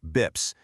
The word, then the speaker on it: BPS: A basis point or BPS for short. And you'll often hear people in finance pronounce it BIPS is just 1/100th of 1%.